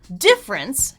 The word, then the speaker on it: difference: For example, difference can have 2 or 3 syllables.